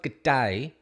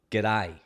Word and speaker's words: g'day: don't say good day it's not good day it's g'day right a a like the first letter of the alphabet a g'day right you learned that now